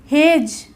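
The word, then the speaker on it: hedge: बोलेंगे ना कि एडज हेज ओके इसमें भी जी से पहले डी आया तो इसको हेज बोलेंगे वेज ऐसे ही इसको वेज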